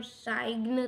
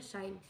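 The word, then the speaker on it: sign: साइन में से जो जी है वह साइलेंट हो जाएगा क्योंकि हम साइग्न तो नहीं बोलते हम बोलते हैं साइन ऐसे ही कॉम में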